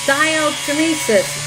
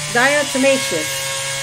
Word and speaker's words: diatomaceous: her voice on through facebook and said it's diocemesis diatomaceous she kept on saying it so that's my